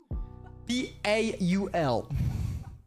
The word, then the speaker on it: Paul: P-A-U-L. And in French, because I'm French, we pronounce it Paul, basically.